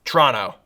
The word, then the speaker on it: Toronto: Toronto. That's how you say it if you're local.